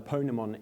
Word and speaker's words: Ponemon: And when I asked how do you say that, someone said, think Pokemon. So that's how I remember how to pronounce it correctly. But in any case, the Ponemon Institute is completely impartial, even though this was a sponsored study by IBM.